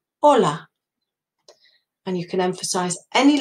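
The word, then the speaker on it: hola: to help you also H is silent start of a word in Spanish so do you know the word for hi Ola that's right Ola and you can emphasize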